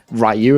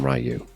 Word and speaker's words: Ryu: to Ryu and steal a Hadouken or something.